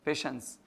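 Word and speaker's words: patience: प एन सी ई पेशेंस तो ये पेशेंस में यह वाला श बोलेगा टीआई है ना तो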